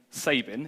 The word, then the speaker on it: Sabin: this is Miles Sabin who does not pronounce his name Sabin it is Sabin and according to his